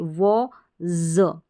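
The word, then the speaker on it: was: कि यहां पर है डब्लू ए व ज इस एस को हमने ज पढ़ा है क्योंकि इसका रूल भी मैंने बताया कि एस से पहले बिफोर जो है वाउल लेटर्स आ जाए वज तो यहां पर ए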